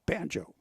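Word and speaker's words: Bango: Yesterday they had it spelled B-O-N-J-O, and it's B-A-N-G-O, Banjo.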